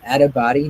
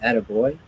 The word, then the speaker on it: Attabotty: And that's Attabody, not Attaboy. This is spelled ATTABOTTY.